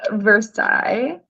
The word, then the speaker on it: Versailles: It's actually pronounced Versailles. Oh. But, it's a very kind of country little town, so everyone says Versailles.